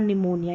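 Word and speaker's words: pneumonia: पे pen paper plate लेकिन P silent रहता है यानी यहां पर देखिए साइकोलॉजी और निमोनिया यहां पर पी साइलेंट इस तरीके से पी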